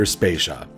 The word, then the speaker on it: Spasia: critical tracks behind them my name is spasia and we're brought to you by Anonymous dinosaur and rhymes with Asia it's time to appreciate